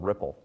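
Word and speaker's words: Rypple: we bought a company called Ripple. I don't know if you guys saw that or heard about it. It's spelled with a Y, so R-Y-P-P-L-E.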